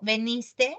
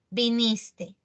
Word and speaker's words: viniste: Según lo expuesto en los enunciados, ayer, ¿cómo digo? ¿Veniste? No, viniste. Ya, elimino la A.